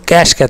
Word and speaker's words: cache: "Cache Memory" in it Some people pronounce it "Cache" and other call it "Cash" Now see, Cache mode